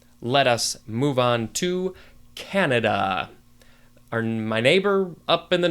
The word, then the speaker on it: Canada: Let us move on to Canada.